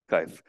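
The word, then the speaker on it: Kuijf: Does anybody know how to pronounce Coif? Coif? Kaif? Kaif.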